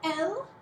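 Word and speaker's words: elles: However, there is also elle, E-L-L-E-S, elle, pronounced just like elle, she, and this also means they, but you can only use it if it's a group of all girls.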